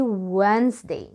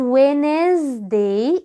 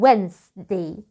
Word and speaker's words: Wednesday: اليوم اللي بعد كده الاربعة بنقول عليه Wednesday. Wednesday. الدي اللي قدامك دي تنساها خالص، مش هنعبرها كأنها مش موجودة، اسمها Wednesday.